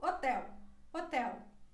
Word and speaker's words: hotel: depois a letra h quando ela vai ao início da palavra ela não tem som é como se ela não estivesse aí por exemplo hotel hotel mas quando ela vai